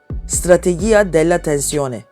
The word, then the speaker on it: strategia della tensione: Telaffuzu biraz zor ama tam adı şöyle. Strategia della tensione.